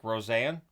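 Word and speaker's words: Rosén: front I went with Isaac rosan and that's how I've heard it pronounced at times others have not pronounced it Rosanne but that's what I'll say for now and Noah aand so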